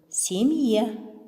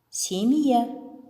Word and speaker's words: семья: уголь уголь угол угол А вторая функция мягкого знака - это разделительная функция мягкий знак разделяет согласный перед м и последующий мягкий гласный а гласный в таком случае произносим с начальным звуком й Вот например семья семья